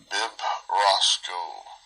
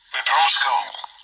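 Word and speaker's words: βιβρώσκω: Bibrosco. I think that's the verb form of it. That's how we pronounce it. Strong's G 977. Bibrosco. Bibrosco. Bibrosco. Like my big brosco.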